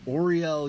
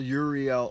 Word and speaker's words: Uriel: your left hand is Oriel, Uriel, or Ariel, depending on how you like to say it.